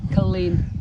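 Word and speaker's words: Culzean: the other big colleen you don't pronounce the zed it's colleen right it's about killzin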